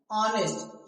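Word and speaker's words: honest: आवर आवर मतलब घंटा ऑनेस्ट क्या ऑनेस्ट तो यहां भी एच है ना लेकिन एच यहां भी साइलेंट है ऑनेस्ट ऑनेस्ट ऑनेस्ट ऑनेस्ट का मतलब क्या होता है?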